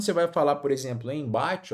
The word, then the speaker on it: embate: Quando você tem aqui a palavra embate, por exemplo, ó, em bate, veja que aqui, ó, você tem uma vogal, vogal e mais um m. O que acontece? Esse m ele não é pronunciado.